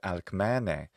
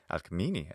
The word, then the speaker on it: Alcmene: Her name in the classical Attic pronunciation is Alcmene, Alcmene in modern Greek.